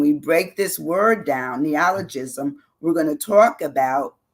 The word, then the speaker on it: neologism: ne ne ne neologism it's hard to say neologism that's how you say it neologism and it says it's